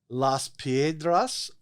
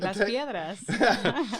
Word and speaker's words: Las Piedras: She hails from in Las Piedras, Puerto Rico. Did I pronounce that correct?